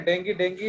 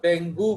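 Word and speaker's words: dengue: तो आप जानते हो कि नहीं, डेंगी एक बीमारी है। एक्चुअली बहुत लोग इसको डेंगू बोलते हैं। इट इज नॉट डेंगू, इट is actually डेंगी। उसका प्रोनाउंसिएशन होता है डेंगी।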